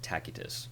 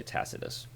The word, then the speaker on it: Tacitus: by the name of Tacitus, and that's the classical Latin pronunciation. I hear a lot of people also say Tacitus.